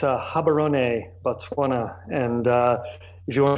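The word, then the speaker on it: Gaborone: of mess that up give us the right pronunciation if you would yeah you bet it's a hobby Ronay Botswana and if you want to feel like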